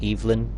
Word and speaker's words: Evelyn: see I'm using an Evelyn an eelin uh I know you pronounce it eelin but um my mom's